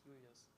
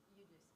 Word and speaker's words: Julius: So in German it's Julius. Julius.